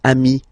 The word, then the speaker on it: amis: Okay, but then technically you pronounce it the same way. So singular form ami, plural form you add this S, but it's ami as well.